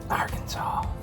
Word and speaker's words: Arkansas: We're right near Arkansas.